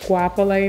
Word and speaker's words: Goapele: of a challenge and that's why it's just pronounced swap away now so that we